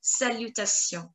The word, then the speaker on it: salutations: Salutations. N and S silent.